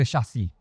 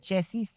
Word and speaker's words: chassis: y first is the chassi chassi isn't it chassis it's a French word shi shi I've been saying it wrong all this well okay